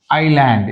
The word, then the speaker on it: island: yes sound లేదు ఇక్కడ మధ్యలో ఐలాండ్ ఇది మనకు తెలిసిందే ఐలాండ్ ఎస్ is silent now coming to ద